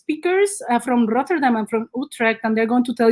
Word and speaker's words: Utrecht: to amsterdam where i live that is called utrecht i can pronounce it properly uh utrecht and sometimes people say utrecht and we don't